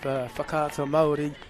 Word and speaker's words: Whakaata Māori: I must make mention in terms of whakaata Māori that the captain of Mount Albert Grammar. Well done, you pronounce it correctly as well.